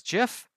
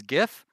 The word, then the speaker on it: GIF: for it now I assume that you also pronounce gif as jiff because that is the way that it's actually pronounced and you're not one of those weirdos who tries to pronounce it as gif because if you're gonna tell me that that